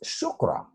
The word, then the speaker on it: chakra: This CH, even though the word is chakra, it's not pronounced chakra, even though it's spelled CH. It's pronounced chakra. It's actually pronounced shukra in Sanskrit, just like the Arabic word shukran, shukra.